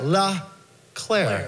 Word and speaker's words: LeClaire: No, you pronounce it right. LeClaire. LeClaire.